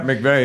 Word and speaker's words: McVey: Is that how you say it, McVey? Yep, McVey, yeah.